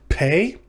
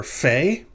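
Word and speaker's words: פ: separately as the letter fey it is without a dog ace like it like it is here it lack or it's pronounced like the ph in alphabet it is transliterated using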